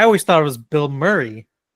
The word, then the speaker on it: Murray: It's Murray. Murray. Bill Murray. Murray. Bill Murray. It's It's spelled that way, like M U R A Y. But I believe it's just pronounced Murray.